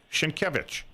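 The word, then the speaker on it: Sienkiewicz: sounds s i n k i e wz shinkevich okay and he wrote a book called PBA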